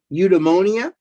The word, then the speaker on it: Eudaimonia: In college, his piece, Eudaimonia, am I pronouncing that right?